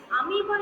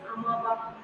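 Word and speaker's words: amoeba: ABA is AB not you can pronounce as amiba it be pronounced as a amiba you cannot be pronounced as amaba amiba so you can properly pronounced it as amiba so here thect option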